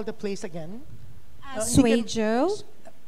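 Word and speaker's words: Suizhou: as in Zebra Yeah parang zwe zuu pero kasi Iyung Z donon is J zj Like for example guang Zoo No it's guang Joe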